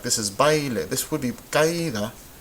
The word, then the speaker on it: baile: We have baile and caída. Baile, caída. Well, this, we can see the diphthong right here. The a and the e together make bai, baile. 2 syllables, right?